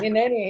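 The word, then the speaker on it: הִנֵּנִי: And the Hebrew is Hineni. Hineni. Where's Hineni, if Oh, you pronounce Hineni.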